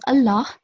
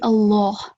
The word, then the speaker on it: Allah: And this Allah, because the previous letter has a fatha stroke, it will be thick. It can't be pronounced as Allah. It will be Allah, thick lam.